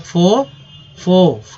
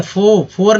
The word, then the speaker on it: fore: तोड़ेंगे दो तरह से, FORE को पढ़ेंगे यहाँ तक, फो, ठीक है, फोर नहीं, फो। आर का उच्चारण चूंकि एकदम नगण्य रहना चाहिए, जहाँ भी आर मिल जाए तो नगण्य ही होना चाहिए, तो फो टेलिंग, TELLING